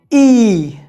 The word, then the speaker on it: y: आखिरी नियम यह है कि अगर इग्रेगा अकेला है तो हम उसका उच्चारण करेंगे ई, ई।